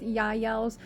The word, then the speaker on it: Yahyel: the yels tonight yels sometimes I speak that real quickly it's yay yels some pronounce it a little differently but that's okay it's